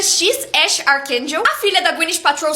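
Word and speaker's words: X Æ A-12: Não dá pra esquecer o nome do filho do Elon Musk, que é XAEA-12, mas que pronuncia X Ash Archangel.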